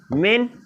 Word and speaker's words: men: Okay, मैन का हो जाएगा मेन, एंड वुमन का हो जाएगा वीमेन।